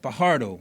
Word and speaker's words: Fajardo: I spoke to a guy by the Chet Fajardo. Yeah. Okay. The J is silent.